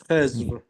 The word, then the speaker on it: Al-Khidr: Al-Khidr. Okay. It's going to show up many times in the meeting tonight. Mark, Yes. in Persian, we pronounce D as Z.